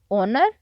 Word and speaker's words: honor: Honor, honest. O. A vowel sound, hence we say an honest man. It's an honor because H is silent in these words.